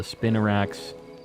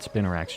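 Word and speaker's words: Spinarak: interesting hunt as well the spinarax not spinorax just swad loons and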